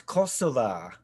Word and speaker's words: Kosovo: talking about her damn kosovo or or as they would pronounce kosova kosova is she's 23.